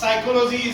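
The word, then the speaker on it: psychology: sound of that particular first letter will be silent pneumonia pneumonia honest okay pneumonia is there साइको साइकोलॉजी there even though pneumonia but पी साइकोलॉजी साइकोलॉजी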